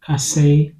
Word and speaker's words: kase: Now, in the Akan language, it is pronounced kase, kase.